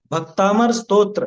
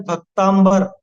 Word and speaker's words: भक्तामर: भक्तामर स्तोत्र, ठीक है ना, ये सही शब्द है। और लोग बाग क्या बोलते हैं, भक्तांबर, है ना, भक्तांबर ऐसा बोलते हैं ज्यादातर।